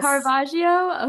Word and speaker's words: Caravaggio: And you did a perfect job pronouncing I did? Caravaggio. Yes. Caravaggio?